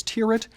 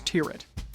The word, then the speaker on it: Tyrwhitt: across the pond, Charles Tyrwhitt. On the topic of pronunciation, the brand says that the last name rhymes with the word spirit.